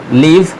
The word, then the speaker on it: live: तो पहला एग्जांपल है लीव, LIVE, इसे लीव पढ़ा जाता है, और दूसरा LIVE, इसे लाइव पढ़ा जाता है।